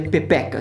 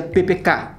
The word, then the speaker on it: PPK: Mas na verdade não se pronuncia pepeca, se pronuncia PPK. O K é mais forte.